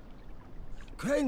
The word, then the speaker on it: Crane: name is carly Pratt crane rhymes with train and pray and sane